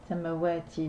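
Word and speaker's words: السماوات: Ensuite, on enchaîne directement avec la lettre sin, puisque l'article qui est devant est avalé, car la lettre sin est une lettre solaire. Donc, samawati, donc le ciel.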